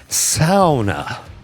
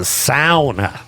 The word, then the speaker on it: sauna: He says they call it a sauna. And so we pronounced it wrong, and they're different because they have showers in them. So I just wanted to correct our mistake. It's a sauna.